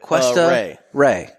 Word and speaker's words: Cuesta Rey: It's Cuesta Rey. Cuesta. You're on Rey. a quest. You're on a Like a quest. So Cuesta Rey. A Rey. Cuesta Rey was originally a Cuban